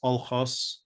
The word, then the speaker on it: Alkhas: And the name, of course, the pronunciation, Al-Qas, is pronounced Alkhas in that part of the world, which uses largely Turkic, Azari, in addition to, of course, Assyrian.